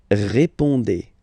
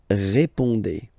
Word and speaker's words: répondez: Remember, you combine these two letters, you get the sound E. So, répondez. Vous répondez. Vous répondez.